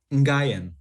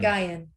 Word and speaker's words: Nguyen: Nguyen, like a silent Key M. Nguyen.